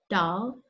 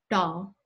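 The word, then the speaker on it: दाल: Hindi hears two modes, one around the dental, more front, dal, for lentils, the word for lentils, so that's a word that's made its way into the English language, and the retroflex, dal, for branch.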